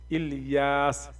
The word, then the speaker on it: الیاس: الیاس، الیاس، ال اور یاس۔ اس حساب سے جب